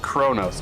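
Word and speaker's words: Qo'noS: Pronounced Kronos.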